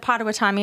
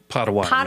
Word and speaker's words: Potawatomi: In fact, Indian agents and the tribes that are there, the Potawatomi, am I saying there? I always say it wrong. Potawatomi.